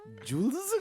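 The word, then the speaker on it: Juelz: like that they were like bro you don't spell it j-e-w-l-z I was like what Jules but the governor names Julian I'll put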